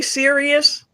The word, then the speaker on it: Sirius: And it's spelled S I R I U S. So when you hear me say serious, I'm I'm connecting the